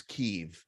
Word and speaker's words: Kyiv: pronounc- pronunciation, which is Kyiv. Kiev is how the Russians pronounce it.